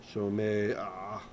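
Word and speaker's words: שׁוֹמֵעַ: Shomea. See? Although this one's not much of a problem because most people don't pronounce the ayin anyway, but it's shomea, not shomea.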